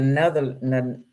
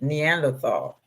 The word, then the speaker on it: Neanderthal: They saying right, and then we got the Netherland. How do you say it? Neanderthal.